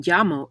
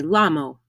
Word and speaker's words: llamo: own name me llamo notice that the double l in yamo is pronounced like ya double l in spanish does not make the l sound in english you will never hear me lamo mei doesn't translate to